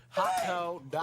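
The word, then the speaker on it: ホットドッグ: hot dog Hot dogs in Japanese are pronounced as hotto dogu.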